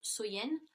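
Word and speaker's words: Samhain: nuit de l'année donc était samen donc qui est prononcé qui se prononce soyen et donc il croyait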